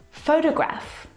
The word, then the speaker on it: photograph: pronunciation of these words so in the first example photograph i need the first syllable is the stressed syllable you can hear it very clearly photograph the second syllable is unstressed and it is reduced down to the schwa sound photograph photograph it's very short it's very lazy it's not very strong at all now if you look at